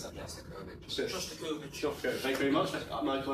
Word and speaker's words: Shostakovich: Aaron, how do you pronounce that? Shostakovich.